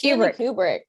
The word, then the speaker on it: Kubrick: It's Kubrick.